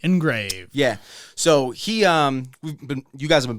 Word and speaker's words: ENGRVD: makes our glasses, and they spell it a little funky, so we'll put it in the episode notes. Shout out to you, man. It is engraved ENGRVD, engraved.